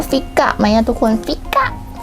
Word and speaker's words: Fika: พริก อะ นะ คะ มัน อ่าน ว่า ฟิก อะ ไม่ งั้น ทุก คน